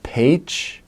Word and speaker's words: Pécs: people to go visit and to see are Pécs, spelled like Pecs, Kecskemét, and Békéscsaba.